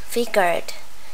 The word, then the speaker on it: figured: Rồi, ở đây mình phát âm là doubt, figured. Tại vì một số cái nguyên tắc mà thêm ed ở sau động từ ở thì quá khứ đó, thì cái chữ này figured nó sẽ phát âm là âm d.